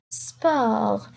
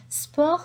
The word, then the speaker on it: sport: Sport. Sport, c'est le PI. Sport. I don't say sport, I say sport. Le T n'est pas prononcé. Sport.